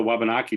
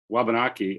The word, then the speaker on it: Wabanaki: come to be well the w in our language is silent so when i say wabanaki actually it should be